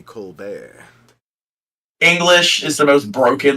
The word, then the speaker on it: Colbert: Such as Yeah, it's it's spelled Colbert, but it's supposed to be Colbert.